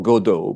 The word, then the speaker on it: Godot: because waiting for robots, if you pronounce it the French way, waiting for Godo m makes, you know,